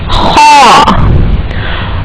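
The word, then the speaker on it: خ: The first letter is kha. Kha are pronounced from the adnal halaq, the part of the throat.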